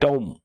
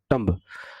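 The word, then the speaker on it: tomb: तो ये पी है इसमें साइलेंट टॉम टम टंब हम इसको टंब टंब इसको हम बोलते हैं। टंब टंब नहीं होता ये टॉम होता है।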